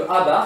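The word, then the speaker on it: Ā: de A dans E, ça se note A avec une barre dessus, ça se prononce A bar. C'est la sous-population de E dont les individus n'appartiennent pas à A. Hein, c'est-à-dire que A bar, c'est le contraire de A.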